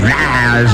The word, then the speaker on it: Niles: Fraser Crane and his brother Niles Crane, which rhymes with Giles, Niles and Giles.